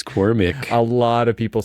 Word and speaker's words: Cormac: come on there first of all it's not Cormac it's cormic a lot of people say Cormac which okay